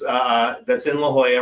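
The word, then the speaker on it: La Jolla: We went to La Hoya, California, which it is spelled L A J O L A, but Christy kept calling it Laala, y'all.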